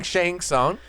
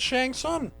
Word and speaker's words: Shang Tsung: I think you're saying I think you're saying shank song like for Mortal Kombat and just do it that way don't say it like that no because you just said Shang Tsung I said no I